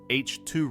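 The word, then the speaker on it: H II: More specifically, an H2 region, pronounced H2 region, referring to ionized hydrogen.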